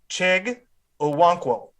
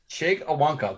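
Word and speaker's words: Chig Okonkwo: At 95, we got the Bengals taking, can you please pronounce his name? The tight end from Maryland? Chig Owonkwo. Chig Owonkwo, there we go.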